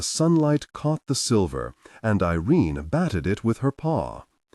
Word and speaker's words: Irene: Her name is Irene, Tai said, looking fondly at the links curled up beside him. Anous said again, rhymes with mean.